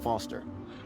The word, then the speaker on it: Foster: so it does i'm foster i'll remember that easy because your name rhymes with fossil and you're old thanks